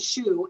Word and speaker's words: Schuh: my name is shu and it's spelled s-a-a-w-n-a and the last name even though it sounds like the one on your foot is spelled u s-c-h-u-h